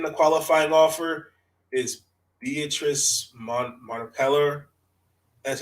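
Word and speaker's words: Mompremier: So I think the only one so far I think that's taken the qualifying offer is Beatrice Montepeller.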